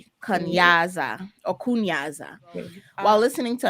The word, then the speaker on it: kunyaza: have what we just uh mentioned kanyasa which is spelled k-u-n-y-a-z-a kanyasa or kunyaza while listening to another podcast talking